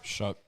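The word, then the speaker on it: Shough: Am I pronouncing that right? Shook. Tyler Shuck above the Reaper.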